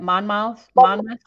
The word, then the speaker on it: Monmouth: Monmouth.